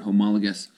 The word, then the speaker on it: homologous: That's how you pronounce this word, homologous.